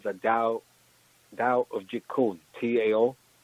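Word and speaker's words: Tao: Actually, the original name of the art was called the Dao of Jeet Kune, T-A-O. T-A is pronounced Dao. Okay. T-A-O.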